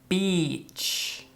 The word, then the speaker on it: beach: which means playa, and se pronuncia beach. Entonces, la misma vocal que sheet. Okay, so it's beach. Again, it's a long sound, smiling. La lengua está más arriba, beach.